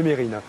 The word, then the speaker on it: Mesrine: Je vois qu'on garde bien l'habitude aussi de toujours prononcer Mesrine au lieu de Mérine.